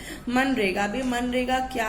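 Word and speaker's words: MGNREGA: ठीक है, हम यहाँ पे जी को साइलेंट रखते हैं। मनरेगा।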